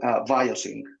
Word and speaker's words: VIOSync: Yeah, it is called VIOSync. VIOSync. It is from it's from the Greek word vios, like life.